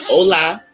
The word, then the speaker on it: hola: We said hola because the H is silent.